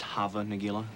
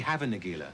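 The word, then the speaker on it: Hava Nagila: know the tune uh have a negela it's played at sporting events as well as bar mitzvahs and briskets isn't it actually pronounced java negular no it's actually havin aguila oh the song was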